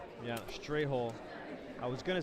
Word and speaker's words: Ei: We've got the Merguez, we've got the Sloppy Joe, and we've got the German egg, pronounced I.